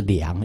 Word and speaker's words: 量: 适宜啊，适量应该叫念作量了，衡量的量了哦，不